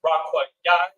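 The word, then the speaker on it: רקיע: So again, H7549 is pronounced Rakwa Yai.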